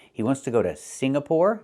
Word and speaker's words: Singapore: It's not Singapore. It's Singapore. The NG makes a sound M in your nose. Sing like when you sing a song together. Singapore, not Signapore, but Singapore.